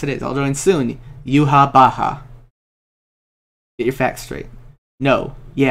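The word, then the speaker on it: Yhwach: Except it's also confirmed that it's pronounced Yuhabaha.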